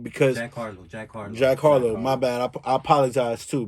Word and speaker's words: Jack Harlow: and that's why i respect um you know jack hararo are part of saying his name wrong that that knew that kayla came up